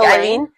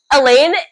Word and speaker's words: Elain: Is it Eile or is it like Eileene?